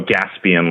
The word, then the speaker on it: Gaspian: Oh, Gaspian, like gasoline? Correct.